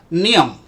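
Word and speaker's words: ням: The word is hung. It's pronounced just like yum, but with an N in front. So, you people who cannot speak Russian, you would say Nyam.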